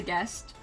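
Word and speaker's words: Ghest: Then we have Pizza Guest, and it's not spelled as guest, it's spelled G-H-E-S-T.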